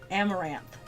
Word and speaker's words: Amaranth: I can never say it correctly because I've been saying Amon-Rath for so long, but it's a song by Nightwish, Amaranth, and it's a flower.